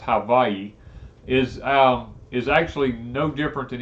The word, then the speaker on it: Hawaii: This intense heat that we're having, Hawaii is actually it's pronounced Hawaii, is actually no different than any other part of the United States.